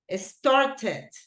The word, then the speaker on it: started: Cuando un verbo termina en T y obviamente se le agrega ed, ahí sí la pronunciación es obvia. Wanted, started, watched.